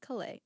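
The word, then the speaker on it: Caillat: "Bubbly" by Colby Calais. Is Yeah. it Colette?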